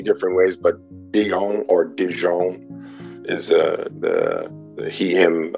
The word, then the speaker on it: De Jong: that first name is last name is dijon and do you pronounce um say that again your pronouns